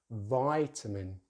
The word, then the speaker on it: vitamin: British English, vitamin, Americans. British English, vitamin, American English, vitamin. So stress is in the same place. The main difference is the vowel sound they use in the first syllable.